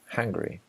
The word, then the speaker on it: Hungary: Hungary. It's like hungry, like when you are hungry, right?